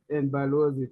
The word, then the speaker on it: Balozi: Balozi for ambassador.